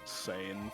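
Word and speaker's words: Sain: I've been That's- reading it as sane for too long. I've been pronouncing it Sign just because, like, that's how it would be pronounced in Japanese, In which is where Japanese, this yeah.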